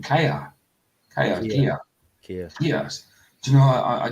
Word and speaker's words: Keir: How do you pronounce our Prime Minister's name? Kia.